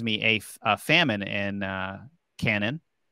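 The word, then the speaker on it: Canaan: a famine in uh Canon did I pronounce that right Lindsay Kanan Kanan thank you so in this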